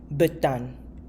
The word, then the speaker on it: betan: Let's move on to number 5, betan. Betan. It is pronounced with B again, betan.